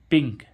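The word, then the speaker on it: pink: ऐसे ही इसमें देखें प प भी क्या है व्यंजन और एन भी क्या है व्यंजन इन दोनों व्यंजनों के बीच में क्या आ रहा है आई तो इसको क्या पढ़ेंगे हम पिंक क्या पढ़ेंगे पिंक यानी कि इस आई को ई पढ़ेंगे यानी कि पिंक तो गाइस आशा करते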